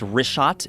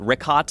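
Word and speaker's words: Richat: first couple I just want to say it's rot I used to call it rick hot I was mispronouncing it but let me ask you this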